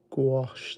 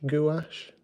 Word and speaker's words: gouache: If I'm honest, I've always said gash, but maybe that's I'm not sure that's quite right to be honest. I know that in American English it tends to be gouache and but it's French, so I don't really know. I don't know how to pronounce it.